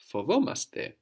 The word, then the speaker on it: φοβόμαστε: And we are scared? Φοβόμαστε. Fovomaste. No, we don't carry the A over to we. Fovomaste.